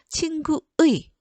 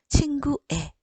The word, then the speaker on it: 친구의: 그 다음, 자, 5번은 친구라는 명사에 붙은 의는 관형격 조사이거든요. 자, 그러면 관형격 조사 의는 애로도 발음할 수 있다고 허용해줬죠? 자, 그러면 이것도 두 개의 발음이 존재합니다. 친구의 라고도 발음하지만 이게 원칙이지만 허용되는 거 친구애, 이것도 허용돼요.